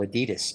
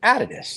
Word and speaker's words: Adidas: of this because oh you guys called Adidas he says but it's pronounced out of this and then they told